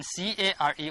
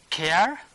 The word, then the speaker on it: care: This one is air, and then C-A-R-E also people used to pronounce care, but real pronunciation is care. R is not pronouncing.